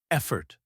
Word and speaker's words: effort: Effort. It means the energy you use to do something. Example: small efforts lead to big results. Pronunciation tip. EF fort. Stress on the first syllable.